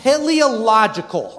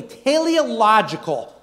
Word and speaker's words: teleological: It's pronounced teleological, okay? So say it with me, teleological.